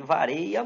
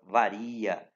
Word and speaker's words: varia: da farinha do Açaí vareia muito você vai ouvir isso né com tudo você tem que lembrar que eu o que a a linguagem formal exige que se pronuncia a palavra varia tranquilo a diferença vamos